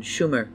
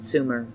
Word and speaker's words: Sumer: of schumer and akkad opert was correct with the exception of mispronouncing the name it should have been schumer not sumer sumer was not a